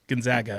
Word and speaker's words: Gonzaga: Gonzaga, actually.